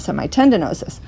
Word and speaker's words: semitendinosus: of semi tendonosis okay so but let's go back pronounced to semi tendinosis so semitendinosus attaches at the ischial